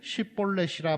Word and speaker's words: 쉿볼렛: 6절에 보니까 그에게 이르기를 쉿볼렛이라 발음하라 하여, 여러분 여기서 이 쉿볼렛이라는 단어는 시내라는 뜻, 시내가라는 뜻입니다. 근데 쉿볼렛이라고 하는데 에브라임 사람들은 이 쉿이라는 발음을 잘 못했대요.